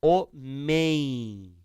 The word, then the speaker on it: homem: Quando é a última sílaba, o M ou ele produz o som de I, ou ele produz o som de U. Ó, homem.